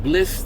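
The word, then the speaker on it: Blxst: That's featuring Wale, and I guess his name is pronounced Bliss.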